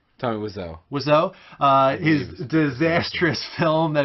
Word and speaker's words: Wiseau: Wiseau? Tommy Wiseau.